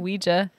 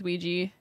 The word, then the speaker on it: Ouija: board luigi patent yeah i keep saying ouija yeah maybe you can say it either way it's spelled ouija but i think it's ouija okay yeah either way